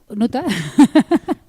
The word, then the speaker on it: Noether: Noether. No aparece Emmy Noether y... ¿Nuta? Es que si digo Nuta, la gente no sabe quién es.